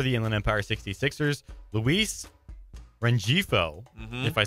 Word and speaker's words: Rengifo: I think, and it doesn't make sense, but I think it's Refijo because I think that G is pronounced like a J, which is pronounced like a H.